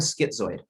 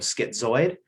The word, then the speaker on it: schizoid: you can think of schizoid um the word zoid kind of rhymes with droid which is kind of